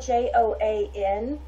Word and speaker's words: Joan: man so it's spelled j-o-a-n i'm going to just say joan because that's what it looks like miro m-i-r-o that artist